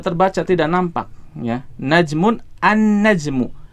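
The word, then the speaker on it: النجم: Jadi huruf lamnya melebur ke huruf setelahnya. Dalam hal ini berarti huruf nun, ya. Lamnya tidak dibaca. Kita tidak membaca al-najmu, tidak. Ya, salah kalau kita membacanya dengan al-najmu. Tetapi bacanya gimana? An-najmu.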